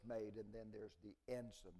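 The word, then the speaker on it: ensign: And then there's the enson. The word enson is spelled ensi gn. It comes from the Latin word for teacher.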